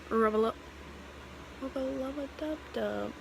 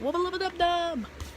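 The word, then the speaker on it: Wubba Lubba Dub Dub: I also keep saying rubba-lubba-dub-dub. I've also been saying it wrong a few times and messing up, but wubba-lubba-dub-dub.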